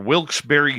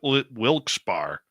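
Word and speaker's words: Wilkes-Barre: very fun to say or wils Berry Scranton spelled wi wils bar what the hell is with that it's bad enough people hyphenate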